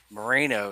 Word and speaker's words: Moreno: Moreno is how you pronounce it, and then the fact that he made that shot, that was insane.